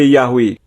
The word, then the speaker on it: Yahweh: Banyak transkripsi bahasa Yunani juga menunjukkan bahwa YHWH harus diucapkan sebagai Yahweh.